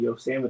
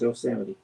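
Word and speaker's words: Yosemite: We're going hiking in Yose next week. You can't even say it right. It is yoseity.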